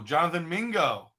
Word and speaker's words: Jonathan Mingo: It rhymes with bingo. Oh, Jonathan Mingo.